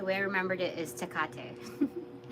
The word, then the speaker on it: Hekate: So the way I remember it was first off like kind of like Italian, like capiche, but then like I forget because it's not the same phonetics as capiche, but the same kind of idea in how to pronounce it.